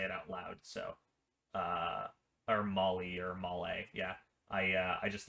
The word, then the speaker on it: MOLLE: up here, so, sorry, I was pronouncing that wrong. It is, Molly or Molly, whatever.